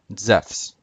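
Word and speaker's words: Ζεύς: But Zeus in Greek is spelled zephes, zeta, epsilon, upsilon, and then final sigma.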